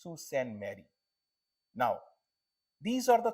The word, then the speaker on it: Sault Ste. Marie: Your pronunciation is so bad about these names. It's Sault Ste. Marie.